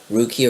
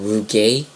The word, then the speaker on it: rugae: This word, rugi or rugi, or rugae, people pronounce it differently, I guess.